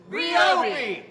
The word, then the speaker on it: Ryobi: It's pronounced Ryobi!